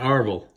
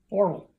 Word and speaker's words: Orville: Not Arvel. Orville.